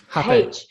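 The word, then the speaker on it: hapé: And I feel like what happened with the Aya ceremony, I also had rape, and I think how do you pronounce it? Almost like an H. Hape.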